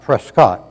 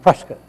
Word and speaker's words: Prescott: The following day, in the Prescott, not Prescott, but pronounced Prescott, Arizona newspaper of 1947, they go on to talk about, wow, there's all kinds of UFOs in other places.